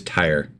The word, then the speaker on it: Tyre: It is Tyre.